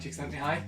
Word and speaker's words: Csikszentmihalyi: and it's written by mihai chick sent me high apparently that's how you pronounce it and if you don't